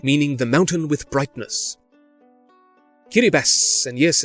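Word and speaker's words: Kiribati: Kiribas, and yes, it's pronounced that way, is the native Austronesian rendition of the name Gilbert after the British captain Thomas Gilbert.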